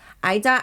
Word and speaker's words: Ayda: I like the AYDA, but it is pronounced Ida, and now I can't change it now because it's on our birth certificate.